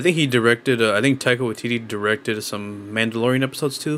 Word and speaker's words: Taika Waititi: I didn't like Thor as a character for a while until I saw Ragnarok, and I can never pronounce his name. Taiti what? The director. Taika Waititi.